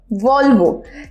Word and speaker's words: Volvo: এটা একটা Chinese multinational কোম্পানির ব্র্যান্ড এবং এর উচ্চারণটা হচ্ছে ভলভো। সাধারণত এটা বাস দেখা যায়, বাট ভলভো কারও রয়েছে। সো ইটস ভলভো, যেটা এটার উপর স্ট্রেস পড়ছে।